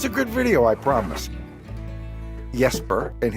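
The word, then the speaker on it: Jesper: It's It's spelled J E S P E R, but that's not how you say it in Danish. It's Yesper. Yesper.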